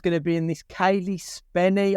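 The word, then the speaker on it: Cailee Spaeny: Kaylee Spenny, I believe it's pronounced.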